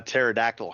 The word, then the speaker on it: pterodactyl: Um, we played a home game that had, a pterodactyl has that silent P in front of it.